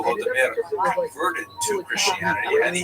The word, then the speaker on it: Volodymyr: What's especially important in its history is the conversion of one of its leaders, Volodymyr, pronounced in Russian Vladimir, shown here a statue